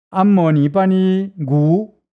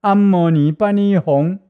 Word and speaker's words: 唵嘛呢叭咪吽: 老太婆，她以前呢念阿摩尼巴尼古有效果吗？有，可是她的正确读音是阿摩尼巴尼吽，所以你应该以后改正过来，对不对？